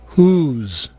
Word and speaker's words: whose: Ouçam agora dois casos de palavras bastante usadas onde o W não é pronunciado. Whole. Whose.